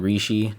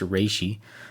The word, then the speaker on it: reishi: reishi no not re I keep saying reishi to people but it's actually pronounced Rishi there's Rishi Corps and